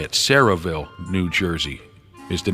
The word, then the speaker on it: Sayreville: what are the odds Cherryville syriaville say Sarahville I think that's how you say it Sarahville New Jersey is the